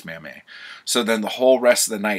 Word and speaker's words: Mamet: is kind of embarrassing, but it's pronounced Mamet. And he's like, oh shit, really? It's Mamet. I'm like, yeah, it's David Mamet, he's French. And he's like, shit, I totally didn't know that.